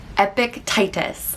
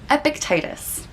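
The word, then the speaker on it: Epictetus: wrong very famous philosopher epic titus i always want to say a pic epiticus or something like that but i think it's epictitis which is a very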